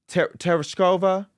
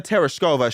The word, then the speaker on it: Tereshkova: Tereshkova? Valentina Tereshkova.